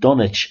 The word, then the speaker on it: Dunwich: submerged by the Sea dun witch pronounced dunich still exists in each